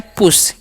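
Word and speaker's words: push: Next word है समझिएगा ध्यान से, क्या लिखा हुआ है, लिखा है PUS, इसे हम पढ़ते हैं पुश, यू का उच्चारण हर्षु करते हैं।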